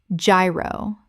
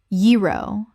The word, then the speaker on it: gyro: a sa i acai Word 31 gyro Common mispronunciation gyro Correct pronunciation yee-ro The g makes a y sound. This is a Greek word that kept its original pronunciation.